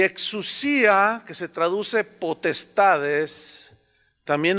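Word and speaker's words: ἐξουσία: La palabra potestades viene del griego exousia, con X, exousia, más bien se pronuncia, exousia. Y exousia, que se traduce potestades, también habla de entes espirituales, pero tienen una pequeñita variación.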